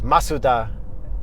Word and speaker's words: Mazda: Just like you guys say we pronounce Mazda wrong. Even though in the American commercials they say Mazda, and Canadian commercials it's Mazda, and in Japan it's Masuda.